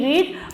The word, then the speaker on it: read: हम इसको लिखेंगे again R-E-A-D, read, but we pronounce it as read.